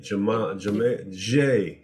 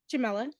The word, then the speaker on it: Jamila: Okay, Jamila. Good morning. Good morning. How do you say your first name again? Jamila.